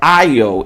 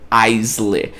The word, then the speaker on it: aisle: A pronúncia é aisle e não Aisley.